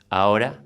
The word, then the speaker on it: ahora: you with me stork the H in Spanish has no sound let's see two examples hour or voy ahora means now I means